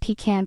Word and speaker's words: pecan: Pecan pie. It's always pronounced pecan pie.